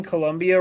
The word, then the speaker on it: Colombia: I've been spelling Colombia wrong my entire life. With a U? Yep. I feel like we pronounce it with a U.